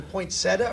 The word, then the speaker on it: poinsettia: you correct my pronunciation is it a poinsettia or a poinsettia or take your choice all good like tomorrow exactly there is is an eye there is an i in the word poinsettia would be the proper